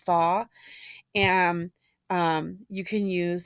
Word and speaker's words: pho: the pho soups and I used to always say faux I was saying it wrong for so many years but it's called thaw and um you can